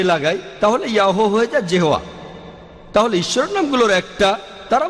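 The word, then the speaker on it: Jehovah: আর উচ্চারণ করার সময় তারা সামনে একটা জে লাগায়, আর এটা হয়ে যায় জেহোয়া।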